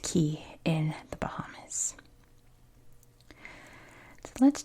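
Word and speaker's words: Cay: been to the Bahamas, in the Bahamas, this is pronounced key. In the United States, it's pronounced K.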